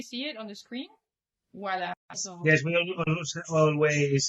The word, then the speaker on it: Ual·la: It's with L geminada, Voila with L geminada, right? Okay. Yes. So this It's like... okay. Yeah, no. I mean, yeah, okay. Can we see it on the screen? Voila.